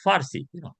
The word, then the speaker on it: Farsi: Instead of Parsi, they become F. And the reason for that is because the Arabs do not have the letter P in their alphabet. So when they came to Iran, they pronounce it Farsi.